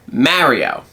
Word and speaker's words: Mario: The people there have an accent where they say my name, Mario. Yeah. Which is an A, that's a similar A to Apple or Matthew.